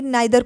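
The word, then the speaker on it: neither: नाइदर कोई कोई इसको प्रोनाउंस करता है, कोई कोई नीदर प्रोनाउंस करता है।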